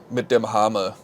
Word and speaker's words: Mit dem Hammer: Mit dem Hammer is how it's pronounced in German.